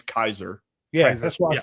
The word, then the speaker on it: Caesar: I think it's pronounced Kaiser. It's really pronounced. Well, the actual Latin pronunciation is Kaiser.